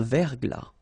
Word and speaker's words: verglas: Un verglas, final S not pronounced. Un verglas, un ciel clair, un ciel couvert, final T not pronounced.